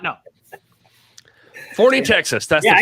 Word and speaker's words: Forney: Is it Forney or Forney? It's Forney, the place for professional wrestling, which There is we what go. the Crockett Cup is, if you did not know. Forney, Texas.